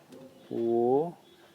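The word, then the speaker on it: 我: अनि अब यसको उच्चारण, यसलाई चाहिँ के उच्चारण गरिन्छ त वो भनेर उच्चारण गरिन्छ। म भन्नु पऱ्यो भने वो भनेर भनिन्छ चाइनिज भाषामा। अनि वो भनेको म, आई अनि मी दुइटै चाहिँ भनिन्छ।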